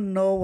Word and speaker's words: know: Olha, o know aí já vai ser conhece. Lembrando, gente, que a palavra quando começa com K, que após o K vem a letra N, o K não é pronunciado, tá?